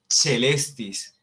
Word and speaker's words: caelestis: Ahí dice caelestis, se escribe caelestis, pero se pronuncia celestis, celestis.